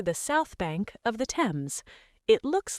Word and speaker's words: Thames: It is not Thames, it is Thames. The H is silent. Thames.